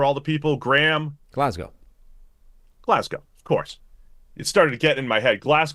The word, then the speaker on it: Glasgow: and pan Su give me your left guard pronunciation here Sam for all the people Graham Glasgow Glasgow of course it started getting in my head